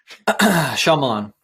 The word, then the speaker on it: Shyamalan: Shyamalan.